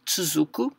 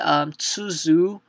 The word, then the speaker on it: つづ: My hint to you guys, as I learned myself, was basically tsuzu. So tsu, when you were pronouncing tsu, think that is basically the sound of chi and tsu together.